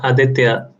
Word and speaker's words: Aditya: emphasis differently in two different ways it's it's aditya it's the pronunciation there's just so many close matches in